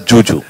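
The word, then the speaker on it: Zhu Zhu: So it's written as Zuzu, but she pronounces it as Juju.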